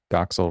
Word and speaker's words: Doxel: Should be easy because Doxil rhymes with Troxil and that's the name of the show.